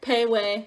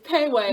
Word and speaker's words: Pei Wei: So we got Pei Wei. I think that's how you say it. I called it Pee Wee at first. Called it Pee Wee. So it's Pei Wei, I think. I don't. Sorry if I get it wrong.